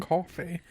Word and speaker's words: Coffey: John And Coffey. just like the drink, only And not spelled spelled the same.